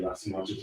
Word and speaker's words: Lysimachus: I always say Lysimachus, you might be saying it wrong.